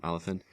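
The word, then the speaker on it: Olyphant: Is that how you pronounce it? Yep. Tim Oliphant.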